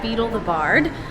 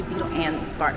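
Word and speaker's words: Beedle the Bard: was the tail of beetle The Bard um I catch myself saying it wrong a lot I say Beetle and The Bard it's Beetle The Bard now it is an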